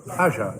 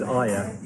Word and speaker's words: Aja: Aja, yeah. No, I thought it was Aya. I know that's wrong, but I've never known.